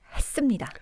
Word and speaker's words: 했습니다: 이때 히읗에서 또렷하게 발음을 하면 사람이 명료해 보입니다. 같이 한번 해보실까요? 회의를 했습니다.